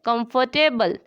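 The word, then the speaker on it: comfortable: इसमें आर जो है वो साइलेंट है। कंफर्टेबल।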